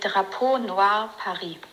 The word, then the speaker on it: Drapeau Noir Paris: me, then we can find out how we pronounce it. Hi babes, that would be Drapeau Noir Paris.